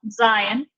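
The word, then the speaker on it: זין: And this is pronounced like a Z, but it has a little bit of a D sound at the front. So this is Z, Z.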